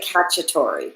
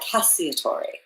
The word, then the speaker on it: Cacciatore: Some people say Cacciatore, but I like Cacciatore. Okay, I can. I may introduce myself that way in the future. Cacciatore.